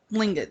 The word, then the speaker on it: Tlingit: It's like Tlingit or something like that. It's like has a T sound but as a K. Tlingit or something like that.